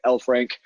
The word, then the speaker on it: Elfrink: really easy to pronounce just like in the magical creature elf and a hockey rink combined you know Lord of